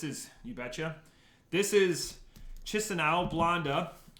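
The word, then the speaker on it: Chișinău: I'm gonna say this is Chinsinau. Chinsinau.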